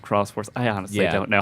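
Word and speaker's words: Xros Wars: I think that's pronounced Cross Wars.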